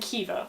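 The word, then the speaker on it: Caoimhe: See also the names Kielta and Kiva, or Quilter and Quiver depending on where you're from.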